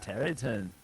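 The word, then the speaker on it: Tareyton: Terry Tone? Is that how you would pronounce that? Tarayton? Yeah. How are you pronouncing that? Terryton.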